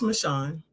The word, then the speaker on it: Michon: Is it Michon? I'm sorry. I want to make sure I'm pronouncing your name correctly. It's Michon. Michon.